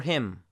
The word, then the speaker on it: hymn: Now, the letter N in some MN combinations will be silent. For instance, column, autumn, or hymn.